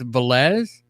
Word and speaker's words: Velez: pronouncing your name right it's velez yes it is you got it right all right awesome so